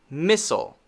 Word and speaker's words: missile: missile missile missile okay now notice that this is not a clear sile sound so here's an example where we learned the i l e should make a long i sound right i but in this case it doesn't we say soul missile missile now before i